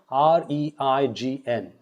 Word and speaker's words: reign: R-A-I-N is the same pronunciation as R-E-I-G-N.